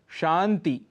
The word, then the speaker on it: शांति: उक्ति, शुद्ध उच्चारण है उक्ति। शांति, शुद्ध है शांति।